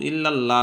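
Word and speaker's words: إلا الله: হবে আল্লাহ লা ইলাহা ইল্লাল্লাহু তাহলে আশহাদু আল্লা ইলাহা ইল্লাল্লাহু ইল্লাল্লাহু ইল্লাল্লাহ না ইল্লাল্লাহ এটা ভুল শব্দ সঠিক হচ্ছে ইল্লাল্লাহু আল্লাহ শব্দের ডাইনে জবর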